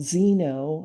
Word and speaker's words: xeno: excess of what are called Zeno and it's spelled x n o xenoestrogens and so what